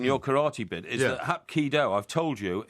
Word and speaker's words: Hapkido: But anyway, karate's just a purely brutal, violent thing, whereas Hapkido, Hapkido. that's how you pronounce it, and you bow to your opponent.